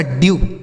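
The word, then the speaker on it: dew: डी से हो गया आधा ड, इस ई और डब्लू का उच्चारण यू, यह लिखा गया आपका ड्यू।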